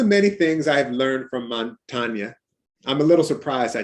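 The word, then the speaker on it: Montaigne: essay in some ways his name montagna is how you say it it's spelled like montane just a dream among the many things i've learned from montana i'm a little surprised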